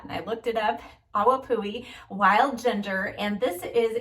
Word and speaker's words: Awapuhi: Several of you told me how to pronounce that, and I looked it up. Awapuhi Wild Ginger, and this is a finishing spray.